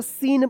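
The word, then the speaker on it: scene: कि सी यहां पे साइलेंट रहेगा। एस सी ई एन ई क्या पढ़ेंगे इसको? सीन पढ़ेंगे। स्किन मत पढ़िएगा।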